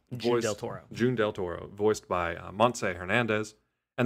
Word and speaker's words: June Del Toro: June Del Toro, voiced by Montse Hernandez.